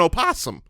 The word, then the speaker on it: opossum: on hold on opossum can be pronounced with the syllable voiced or silent so the actual animal is an opossum I've always thought it